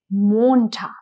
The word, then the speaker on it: Montag: If you can see the spelling has o single end. So the pronunciation here is short. It is montag.